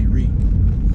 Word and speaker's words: Rea: To me, the A is silent. I just say Ree.